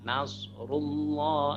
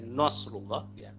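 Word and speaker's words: نصر الله: babi dia Indonesia Nasrulloh Nasrulloh itu nanya tipis tapi shotnya tebal Nas nose nose nanya tipis Nasrulloh Nasrulloh dan jangan kemudian Nose loh Mungkin ada yang bacanya nos rullah nanya ikut-ikutan naik nosu nanya tetap terbuka Invita nah nah nash-nash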